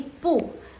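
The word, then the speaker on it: 不: By the way Jadi kalau misalnya belakangnya pu itu dia nada keempat jadi yang pu itu yang pu itu dia berubah jadi nada kedua jadi bacanya pu nada kedua ya guys belakangnya jangan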